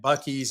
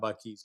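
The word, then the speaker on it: Buc-ee's: Though I have to admit, I was on a road trip this week, back and forth to Houston, and I stopped at Bucky's and picked up my first ever Bucky's cap.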